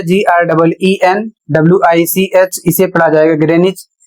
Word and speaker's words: Greenwich: यदि टाउन और स्थान का नाम होता है तो वहां कहीं कहीं पर W साइलेंट हो जाता है।